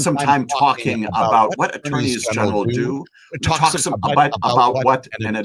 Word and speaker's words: attorneys general: We have had 86 attorneys general, and yes, that's how you pronounce the plural of them. It's attorneys general.